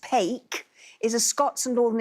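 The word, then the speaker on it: paik: P A I K, pronounced pake, is a Scots and Northern England term for to thump or whack something.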